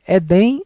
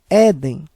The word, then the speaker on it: Éden: O correto é Edem ou Éden? É Éden. Ou seja, a sílaba mais forte é a penúltima, é. Como ela termina com N, deverá ser acentuado. O correto é Éden.